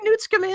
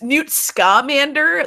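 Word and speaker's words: Newt Scamander: tell me you said as I is it pronounced that way n scander though buddy I've only read it it's new scamander the Scott commander in my Harry potteric it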